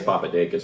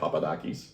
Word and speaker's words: Papadakis: with Petro Papadakis yeah I think that's actually the proper Greek pronunciation he says papadas because most people do but it's yeah Papadakis yeah and now he leads